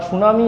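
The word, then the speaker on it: tsunami: সুনামির স্পেলিংটা দেখে নাও। টিটা উচ্চারণ করা হয় না। টি এস ইউ এন এম আই টিটা উজ্য থাকে।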